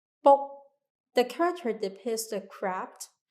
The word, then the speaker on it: 卜: Also, the pronunciation of book in Mandarin is bu, in Cantonese is book. Is similar to the sound of cracking of turtle shell.